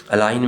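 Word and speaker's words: align: ये साइलेंट नहीं था अलाइन में जी साइलेंट है वेनसडे में डी कसल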